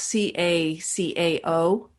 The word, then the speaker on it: cacao: South America or Mexico it's ca ca o pronounce cacao and where do you